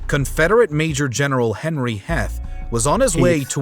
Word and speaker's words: Heth: to come meanwhile confess fate Major General Henry Heth was on his way to W Le pronounced Heath when his Force stumbles upon that of Union